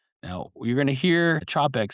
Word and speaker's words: Czapek: and you're going to hear it Chopp ek. Um the proper pronunciation is Chopp like is in c h a p and then a dash and then e c k Chopp ek.